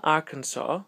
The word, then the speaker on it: Arkansas: con la traduzione Alabama arkans I do love my mind Alabama Arans o Arans è scritto Arans però in America molto spesso Lo pronunciano arkans sono due